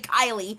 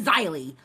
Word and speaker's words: Xylee: She kept saying Kylie instead of Xylee.